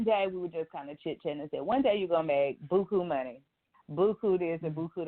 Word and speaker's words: Beaucoup: Now, real briefly, tell me about your nonprofit organization, Beaucoup. Now, do you say it like that? You say it in the French way?